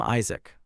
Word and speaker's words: Isaac: But these ones were stupid and they liked to chant his name as Isach, which constantly annoyed Kim Isaac. Although he taught them many times, they still mispronounced his name.